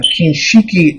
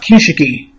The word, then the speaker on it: Kinshiki: Next, we have Kinshiki Osasuki. Rocking a full set of S Forge Oracle. I know, I think it's actually pronounced Kishiki. I believe so.